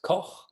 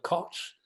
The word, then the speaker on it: Kau: And we have now the great privilege to move to Robert Kau as he would be pronounced in Germany. Um some uh as we've learned call him Robert Cotch, but I think he